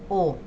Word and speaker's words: eau: También la EAU, que de hecho esto significa agua, se pronuncia como una O. La palabra agua en francés es O.